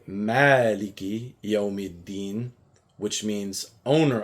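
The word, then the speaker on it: مَالِكِ: But if I was to lengthen that pronunciation to two counts, where I can use my finger to count, right? Then I would say Maaliki.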